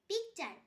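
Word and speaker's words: picture: পিকচার, PIC pick, TURE চার পিকচার। এখানেও টি এর পর ইউ আছে তাই টি এর উচ্চারণ চ হবে।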